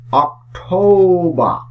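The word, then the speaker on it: October: এই শব্দটির শেষেও আর আছে, তাই এই আর সাইলেন্ট থাকবে। আর আমরা এই মাসটির উচ্চারণ করে থাকি অক্টোবর, কিন্তু এটি অক্টোবর না, এটির সঠিক উচ্চারণ হচ্ছে অক্টোবর, অক্টোবর।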